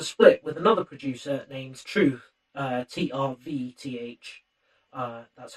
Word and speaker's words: TRVTH: So this is off his latest album, which was a split with another producer named Truth, TRVTH. That's how it's spelled.